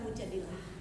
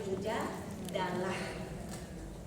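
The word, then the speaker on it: Mujādilah: Quran surat Mujadilah. Ada yang bacanya mujadilah, ada yang bacanya mujadalah.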